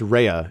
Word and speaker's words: Raya: i keep on saying raya it's rhea it's pronounced reya even though it's spelt r-a-y-a um but the budget